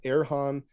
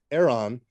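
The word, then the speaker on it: Eran: up the work of erhon or it's EA sorry e r a n Aeron um El Hayek so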